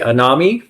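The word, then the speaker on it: anomie: enemy an an n o m i e anami yeah so phys drained like you you've lost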